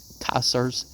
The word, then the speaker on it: Caesar: Whether a longer life would have brought him to Caesar's clear intelligence, remember you got to pronounce those C's in Latin like a K, or the subtle understanding of Napoleon is to be doubted.